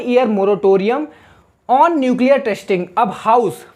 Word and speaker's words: moratorium: इसको पढ़ेंगे कैसे, मोराटोरियम। अब इसका मतलब होता है, पहले तो इसकी स्पेलिंग जान लेते हैं, MORATORIUM।